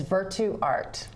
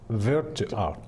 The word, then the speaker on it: Virtuarte: The name of my company is Virtu Art. Virtu Art. Yes. Okay. You guys can see that on the screen so that you have it right. Spelled Virtuarte, but the E is silent.